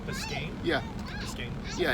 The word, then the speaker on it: Biscayne: Nick, is this street pronounced Biscayne? Yeah. Biscayne.